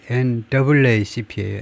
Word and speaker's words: NAACP: The NAACP Legal Defense and Education Fund argued 이걸 읽을 때 NAACP라고 읽기도 하지만 조금 더 멋있는 방법이 NAACP예요. NAA가 두 개다.